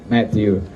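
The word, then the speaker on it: Matthieu: Matthew is not spelled like the English, Matthew in French is M-A-T-H-I-E-U, Matthew. Ricard is Richard, like in English, but this is French.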